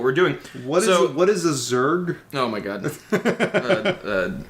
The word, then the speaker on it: Zerg: What is a Zerg? Oh my god, it's spelled ZURJ, I believe.